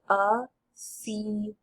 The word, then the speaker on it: Athene: So as you can see here, if a word ends with a final E, it's pronounced. So this word would be Athene.